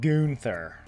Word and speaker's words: Gunther: You're used to US people saying it as gunther as the gun like the weapon. Um I think it's funnier to name to pronounce it gother. It gives him a little bit more character, you know.